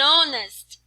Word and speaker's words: honest: que começa com H, e o meu H aqui é mudo, não tem som. Então, embora eu tenha aqui uma consoante, a alternativa que cabe aqui é o N. Então, Ismário and honest man.